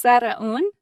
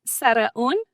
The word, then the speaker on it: Saraun: is, but I'm going to let her pronounce her last name correctly for you. It's Saraun. Saraun. Say it again. Saraun.